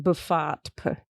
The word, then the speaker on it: BFOTP: BFOTP. Pronounced Buffat.